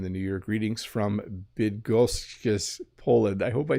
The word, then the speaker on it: Bydgoszcz: Greetings from Bydgoszcz, Poland.